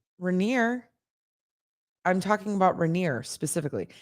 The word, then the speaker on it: Rainier: rainier yeah that's better rainier are you in rainier yes that's the right way to say it i was saying rainier yeah i was adding it i was adding a syllable rainier sorry i know